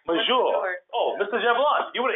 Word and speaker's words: force majeure: When we get to the COVID-19, is it force Majeure. majeure? Oh, Mr. Jablon, you would have answered that. How do you say that? Oh, majeure. It's majeure. Majeure.